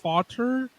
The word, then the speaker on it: Fatur: His name is pronounced Fatur.